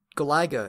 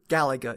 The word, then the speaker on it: Galaga: we said about galaga it's galaga or galaiga as we called it back then pretty sure galaga is the correct pronunciation though so i'll turn